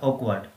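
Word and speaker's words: awkward: और इसका जो विलोम है वो होगा ऑकवर्ड। यहाँ पे ये ध्यान रखना कि आर साइलेंट रहेगा।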